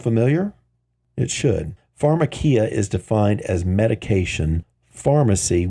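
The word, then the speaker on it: φαρμακεία: is sorcery the word sorcery in Greek is pronounced phakia does that sound familiar it should phakia is defined as medication Pharmacy which is by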